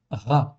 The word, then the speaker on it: רע: Ça se prononce ra en hébreu.